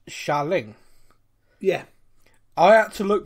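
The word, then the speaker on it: Xialing: a l i n g uh but it's pronounced shaolin yeah i have to look that up i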